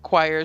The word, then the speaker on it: choir: they spelled they said that choir should be spelled like squire without an s.